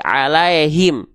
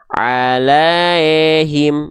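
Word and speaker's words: عليهم: ini ya sukunnya dibaca jangan sampai alaihim ada yang bacanya begini alaiim bunyinya jadi e enggak bunyinya kalau tepat pelafalannya Harusnya i alaihim bukan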